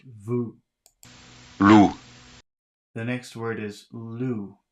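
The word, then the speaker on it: vous: that's spelled v-o-u-s but you don't pronounce the S it's just vu the next word is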